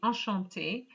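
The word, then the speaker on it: enchanté: french it's ashanti so whether it's masculine or feminine it is the same pronunciation but remember ladies when you actually say enchante if you write it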